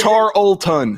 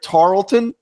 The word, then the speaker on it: Tarleton: It's almost like it's a silent L.